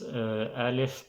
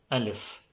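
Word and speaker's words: ألف: So let's start with the first letter, Alif. Alif is almost same like A in English, but it depends on the word.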